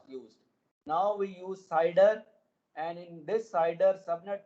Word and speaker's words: CIDR: classless inter domain routing it is pronounced as cider so i i think